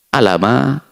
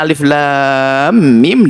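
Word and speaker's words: الم: Coba kalau tidak pakai guru, gimana bacanya? Alama, ali, atau bagaimana? Dan tidak ada beda hurufnya Alif Lam Mim dengan alam. Tidak ada beda. Alam. Alif Lam Mim dengan alam sama.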